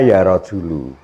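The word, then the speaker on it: يا رجلُ: Itu bacanya ya rajulu.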